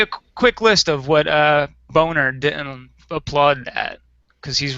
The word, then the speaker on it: Boehner: It He absolutely is pronounces it Boner. Boehner, Yeah. but it is phonetically pronounced as Boner.